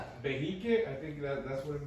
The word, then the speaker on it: Behique: Behiques.